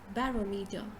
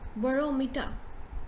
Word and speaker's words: barometer: is this right so a lot of us will pronounce it as barometer right but in fact it is barometer burrow so you say bo not ba barrow right okay then the